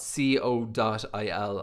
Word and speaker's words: co.il: i would call that code dot il like dot co dot uk but the way israelis pronounce it is dot c o dot il i wanted a very